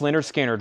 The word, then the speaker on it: Lynyrd Skynyrd: Starchild is not on that album and Lynyrd Skynyrd pronounced Lynyrd Skynyrd VG plus 24.99 that's